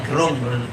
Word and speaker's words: Gerung: Sebelum saya mulai saya mau tanya, beberapa waktu yang lalu sebelum pandemi kan pernah juga Bung Rocky Gerung ya, bacanya Gerung.